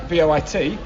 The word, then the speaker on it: voit: vois, V-O-I-S, and il, V-O-I-T, but given you don't pronounce the S or the T, je vois, il voit, they sound the same.